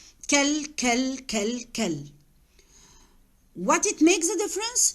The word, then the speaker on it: quel: We pronounce the four the same. I don't have any difference between the pronunciation of the four. Kel.